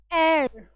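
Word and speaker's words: heir: एन एयर इसको बोलते हैं इसका प्रोनंसिएशन इज़ दिस। इसका प्रोनंसिएशन यह है।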